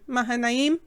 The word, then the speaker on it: Mahanaim: And the name Mahanaim, that's actually how you pronounce it. I did it wrong the first time.